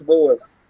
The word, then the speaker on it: Boas: é sobre né franz boas a gente só pronuncio boas então ele é o